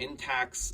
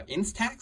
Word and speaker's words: Instax: is a fujifilm intex or in sorry in tax uh instax is how you say that mini a instant camera